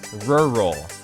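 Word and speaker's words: rural: mercilessly bullied by some very picky people for pronouncing this word as rur roll listen to me this time rur roll better quick now let's reveal the 126 results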